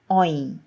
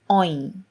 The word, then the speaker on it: ঐ: of A, which is Oin. Oin. Oin makes me think about the word boy in English. However, Oin in Bangla has a bit of a curve when ending with E. Oin, boy.